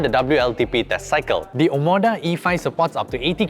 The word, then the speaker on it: Omoda: for the Malaysian Market this is the Cherry omada Hodo Komodo your omada what yes Hodo E5